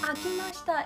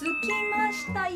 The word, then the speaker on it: 空きました: No, the pronunciation is not akimashita, it's sukimashita.